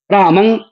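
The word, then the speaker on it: रामं: तो अनुस्वार का उच्चारण मम क्यों करेंगे? जब अनुस्वार लिखा है तो अनुस्वार ही उच्चारण करेंगे। और अनुस्वार का उच्चारण नासिका से होता है। राम अगर रा म के ऊपर अनुस्वार है तो राम ऐसा पढ़ेंगे।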